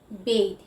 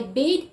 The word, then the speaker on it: bathe: it's a verb but when you're using it as a verb you always say bathe right and now bath